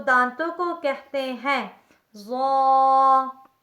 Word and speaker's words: ظ: دانتوں کو کہتے ہیں۔ ظا ظا ظا لفظ ظا یہ بھی پر کر کے ہی پڑھا جاتا ہے۔ اس کا تلفظ زبان کی نوک جب اوپر والے 2 دانتوں کے سرے سے لگے تو اس سے لفظ ظا ظا ادا ہوتا ہے، یعنی زبان کی نوک